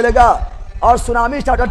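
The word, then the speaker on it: tsunami: सुनामी कौन रूप लेगा सुनामी का रूप ले लेगा और सुनामी स्टार्ट होता है टी से कहां स्टार्ट होता है टी से टी से टी एस यू एन सु ना मी तो टी साइलेंट ठीक है साइलेंट जापानीज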